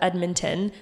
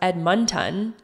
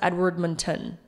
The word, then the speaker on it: Edmonton: 78 people said it should be pronounced as Edmonton. That's the crowd favorite. 57 said it should be pronounced as Edmonton, and some strongly felt that you need to pronounce the D. And then some people actually said it should be pronounced Edwardmonton.